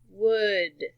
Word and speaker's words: would: words in a word the AL is actually silent look at this word for instance good good you don't say it like cold alright it's almost like a short u sound could would should couldn't wouldn't let's